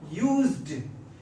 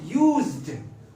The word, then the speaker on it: used: यूज्ड, यानी हमारे spoken में डी को क्लियर सुनाई देना चाहिए। ये कैसे करेंगे? यूज्ड, इट्स यूज्ड। ओके, बहुत सारे लोग डी का प्रोनाउंसिएशन नहीं करते हैं, तो हमारा सेंटेंस गलत हो जाता है।